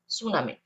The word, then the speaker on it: tsunami: আমরা টিটা উচ্চারণ করব না, সুনামি।